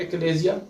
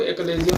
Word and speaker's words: Achalasia: Topic that is called एक्लेजिया। इसको different तरीके से प्रोनाउंस किया जाता है। इंग्लैंड वाले जो इसको एक्लेजिया प्रोनाउंस करते हैं और अमेरिकन एक्लेजिया। ये बहुत इंपॉर्टेंट टॉपिक है।